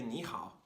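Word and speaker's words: 你好: Sony when we say Neha is actually pronounced with a second tone because a 3rd tone third tone will change to a second tone third tone so even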